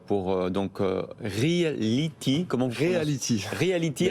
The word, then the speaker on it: Realetee: Reality, merci. Alors ça ne s'écrit pas comme Reality, c'est un E à la place du I et c'est deux E à la place du Y.